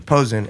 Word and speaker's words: Pozin: How do you pronounce the last name? Pozin. Pozin.